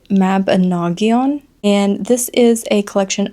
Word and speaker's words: Mabinogion: So, I'm going off of the phonetics that Google had, and that is the Mabinogion.